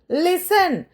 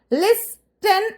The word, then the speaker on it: listen: Okay, ലിസൺ, ലിസൺ, LISTEN, ലിസ്റ്റൻ എന്നാണ് എഴുതുക. പക്ഷെ നമ്മൾ വായിക്കുക ലിസൺ. നമ്മൾ ഓഫൻ എന്ന് വായിക്കുന്നില്ലേ, അതുപോലെ. OFTEN, അതിൽ ടി സൈലന്റ് ആണ്. പക്ഷെ പലരുടെയും ഉച്ചാരണത്തിൽ ഇപ്പോഴും ആ ടി ഉണ്ട്. അതാണ് എന്റെ സങ്കടം. അറ്റ്ലീസ്റ്റ് ഇതെങ്കിലും നിങ്ങൾ പ്രാക്ടീസ് ചെയ്യുമ്പോൾ ആ ടി ഒന്ന് ഒഴിവാക്കണം. Okay, ലിസൺ. ഇറ്റ്സ് നോട്ട് ഓഫ്റ്റൻ ഓർ ലിസ്റ്റൻ. ഓഫൻ, ലിസൺ. Okay, ലിസൺ, LISTEN, ലിസൺ.